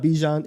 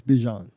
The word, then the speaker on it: Bijan: It's not Bijan, it's Bijan. How long has he been saying? Like he said that like 4 days ago. Yeah. So was it never Bijan?